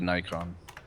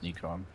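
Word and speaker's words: Nik'on: the camera yeah it's like a Nikon but it's neon okay ah yes uh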